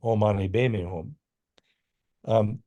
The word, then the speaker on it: Om Mani Padme Hum: You say, Om Mani Padme Hum, although Tibetans pronounce it Om Mani Padme Hum.